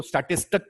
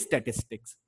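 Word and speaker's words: statistics: कोई इसको स्टैटिस्टिक कह देता है, कोई स्टैटिक्स कह देता है। तो बेसिकली इट इज स्टैटिस्टिक्स।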